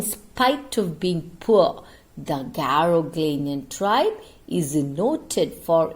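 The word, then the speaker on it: Garoghlanian: the caro glennian tribe children please pronounce it correctly garoglinian okay garoglinian tri living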